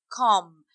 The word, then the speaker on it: comb: A comb. وما بنقولهاش comb اللي هو ده المشت. اوكي اوكي المشت اللي احنا بنسرح بيه شعرنا اسمه comb. Without b, b here is silent.